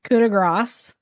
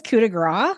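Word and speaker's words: coup de grâce: It is like a coup de grace. You do this, but it's a ah instead of an ah.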